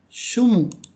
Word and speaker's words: 住む: Ini dibacanya sumu. 住む。 Sumu itu apa sih? Ada yang tahu nggak? Sumu. Bukan sumuk Jogja ya.